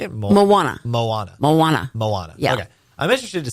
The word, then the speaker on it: Moana: Moana.